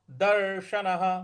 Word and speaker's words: दर्शन: है तो सम दर्शन दर्शन बड़ा वाला श है तो इसमें जीभ को थोड़ा सा रोल करके बोलेंगे दर्शन और न के बाद